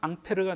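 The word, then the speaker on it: Ampère: 이제 암페어 법칙이라고 합니다 프랑스 사람이기 때문에 지네들 발음으로 하면 앙패르가 되죠 앙패를 법칙 또는 암페어 법칙 이 사람의 이름을 따서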